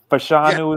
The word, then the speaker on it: Fashanu: Fashanu is his last name.